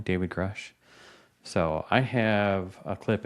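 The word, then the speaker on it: Grusch: David Grush, I think is how you say his last name, David Grush.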